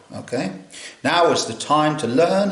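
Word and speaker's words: naw: This looks like nor to a um a sort of English uh mind, but it's pronounced now. Okay. Now is the time to learn how to say number nine.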